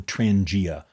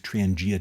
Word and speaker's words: Trangia: the most over the years is called the Transangia. That's spelled T R A N G I A.